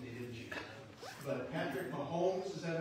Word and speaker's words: Mahomes: But Patrick Mahomes, is that how you pronounce his last name?